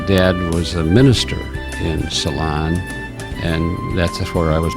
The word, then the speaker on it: Ceylon: We pronounce it Ceylon, Ceylon, and it is a little town just outside of Fairmont, Minnesota. And my dad was a minister in Ceylon, and that's where I was born.